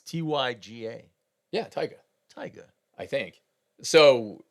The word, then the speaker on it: Tyga: Well, it's with a Y. It's Tyga.